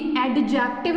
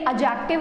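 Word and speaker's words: adjective: ये एडीजे वाले जितने भी वर्ड्स होते हैं इनके अंदर हम डी का प्रोनाउंसिएशन नहीं करते हैं। जैसे कि कभी एडजस्ट नहीं होता है, एडजस्ट, ठीक है। तो उसी तरीके से ये एडजेक्टिव होता है।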